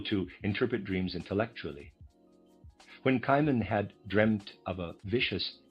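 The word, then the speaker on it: Cimon: Kimman, I'm going to pronounce that. Kimman, C I M O N, a well-known historical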